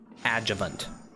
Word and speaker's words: adjuvant: Adjuvant.